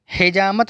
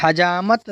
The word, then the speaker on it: حجامت: کریں گے، جہالت۔ جسارت، حجامت نہیں کہیں گے، حجامت صحیح تلفظ کی ادائیگی ہے۔ دیانت، دیانت نہیں کہیں